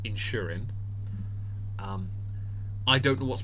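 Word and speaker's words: Inchmurin: The second one is, the second one is called the Lloman 12-year-old in spelled inch murin. I N C H M U R I N, pronounced Insurin.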